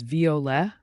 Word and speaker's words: violet: or a violet flower say it as V with a gentle ending Noir means black picture